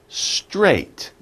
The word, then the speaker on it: straight: A little bit difficult, but you think about it, S-T-R, str, and think ate, right? I ate breakfast this morning. Straight. Straight. It's one syllable, one grouping of a sound.